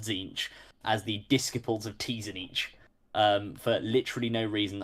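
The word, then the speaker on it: Tzeentch: um chance McGinty no it is pronounced zinc just zinch or yeah two syllables to zinch I mean you pronounce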